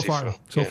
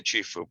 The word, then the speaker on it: Cifu: Am I pronouncing Cifu correctly, or am I bungling? You are doing a great job. Okay, yeah, so Cifu. far. My grandmother used to say Cifu, but we Americanized it.